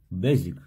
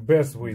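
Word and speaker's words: Beswick: Безик. Безик. Безик. Вот так. Пишется с W, как Безвик, да.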